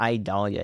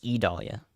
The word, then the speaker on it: Idalia: state line I Dahlia it's not idalia it's E Dahlia what are you talking